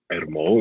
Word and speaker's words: ERMO: That office is abbreviated EREMO, and I'm going to call it ERMO. It sounds like Elmo.